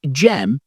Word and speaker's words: Dżem: Pronounced Dżem, these are one of Poland's most respected and